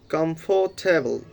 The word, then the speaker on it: comfortable: So you just make three syllable and you need to say this word comfortable.